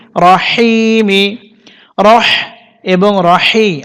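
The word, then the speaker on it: الرحيم: হায়াজের হি, টেনে পড়তে হবে, মিমসের মি, রহিমি। রহ এবং রহি, হা একইভাবে উচ্চারণ করতে হবে। তো এখানে যেহেতু বিসমিল্লাহ শেষ, আমরা এখানে ওয়াকফ করব, ওয়াকফ করলে মিম সাকিন হবে, উচ্চারণ হবে রহিম।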